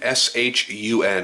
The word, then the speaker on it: Shun: we're looking right now at the rockstead Shon s h u n it is pronounced shun uh it is a 4 in